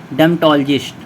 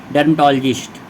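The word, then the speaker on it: dermatologist: हम क्या बोलते हैं डर्मेटोलॉजिस्ट आर यहां पे साइलेंट है डम टोजिट यानी कि त्वचा का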